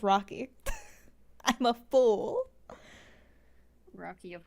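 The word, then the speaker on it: Raque: because it was it's pronounced it's like written out frenchly my bad frenchly it's okay Rocky is spelled r a q u e it's not my fault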